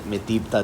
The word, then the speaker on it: מתיבתא: Under the influence of modern Israeli Hebrew, I'd pronounce that Metibta Tifereth Yerushalayim.